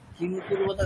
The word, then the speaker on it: किमकुर्वत: আচ্ছা, কিমা কুরুবতা ওটা আমি দীর্ঘ উচ্চারণ করে দিচ্ছি, ওটা দীর্ঘ উচ্চারণ হবে না।